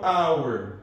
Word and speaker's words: hour: uma cinco, pelo menos, que que o H é mudo. Por exemplo, hora. Eu falo ou eu falo hour. Hour. Hour. Tem som de quê? Tem som de R ou de hour? Som de a.